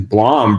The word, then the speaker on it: Blom: go Northern California the one the only Blom how're you doing I'm doing great Brent